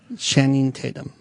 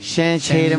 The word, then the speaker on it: Channing Tatum: You said Shannon. He said Shannon. Shannon Tatum, Yeah.